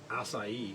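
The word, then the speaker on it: açaí: Akai. I think it's pronounced be like strawberry. Some people say asai.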